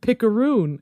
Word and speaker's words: picaroon: r o o n oh like macaroon yes macaroon it sounds like such